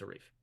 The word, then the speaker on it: Arif: was growing up so the way I pronounce my name is Arif if you see somebody else with the spelling of my name probably pronounce it a little bit differently but for me it's a reef but hey I do